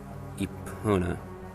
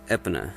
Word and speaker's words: Epona: thing epona now here i've always pronounced epona as epona but i've always been told many times it's no it's ipona or epona usually because it's either probably supposed to sound like pony or referring to a goddess or something well now i've checked